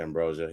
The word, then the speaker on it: Ambrosius: Marsha Ambrosius. Is that how you say her name? Marsha Ambrosia, yeah.